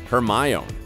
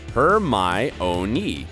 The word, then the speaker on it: Hermione: jk of course seriously most fans thought her name was pronounced her my own then finally in the goblet of firebook there was a scene where hermione taught victor crum how to say her name say my name here is the passage her my ownee she said slowly and clearly perm own ninny close